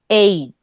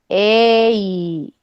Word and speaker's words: eight: Tenemos la EI. Entonces primero hacen la E y luego hacen la I. Fíjense. Eight. Eight.